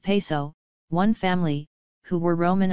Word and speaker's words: Piso: The New Testament, the Church, and Christianity, were all the creation of the Calpurnius Piso, pronounced Peso, one family, who were Roman aristocrats.